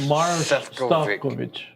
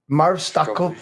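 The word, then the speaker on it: Maroš Šefčovič: Maroš Stavkovic. Maroš Stavkovic.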